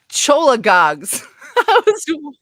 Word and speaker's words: cholagogue: Cholagogs. I was way off. Really? Cholagogs? You actually pronounce the CH on this one?